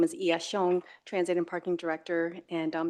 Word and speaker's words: Xiong: And then my last name is pronounced Xiong, but I know it's a little harder to pronounce, so you can say Song or Xiong. So I answer to either one.